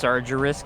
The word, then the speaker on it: Sargeras: what the heck that's not a picture or sargeras or whoever is yes you're doing the trivia you should know these things it's actually pronounced sargeras come on now the sargeras is dead sargeras